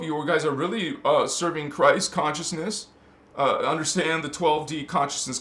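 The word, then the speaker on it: Kryst: When you hear me on Christos Avatar speaking about Christ, first of all, we spell it with a K. K-R-Y-S-T. Christ. It's the sounds exactly the same, just spelled different because it's a different language.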